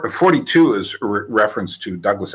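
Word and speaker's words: Thoughty2: Well, there's a guy who goes under the name of he pronounces it 42, but in an English Liverpudlian accent, so it comes off as Thoughty-2.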